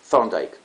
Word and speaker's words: Thorndike: Insisto, la correcta pronunciación sería, la TH en inglés se pronuncia como una especie de Z, medio pisada, medio fuerte. Thorndike.